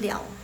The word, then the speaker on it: 了: Jadi untuk le ini ada dua pelafalan. Satu yang le yang seperti biasa, satu lagi yang liao.